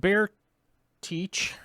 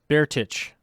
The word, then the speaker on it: Baretich: william uh meredith singh steve bear teach baretich there we go i'm saying it correctly now i'm not saying